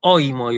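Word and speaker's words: οἴμοι: Y o sea, y yo lo pronuncio oimoy, o sea, en la pronunciación yo acentúo la omicron, pero en la escritura yo tengo que colocar el espíritu y el acento sobre la iota, Entonces, si la palabra comienza en diptongo, ¿sí?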